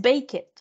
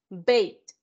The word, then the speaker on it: baked: No es baked, no. Bake, baked.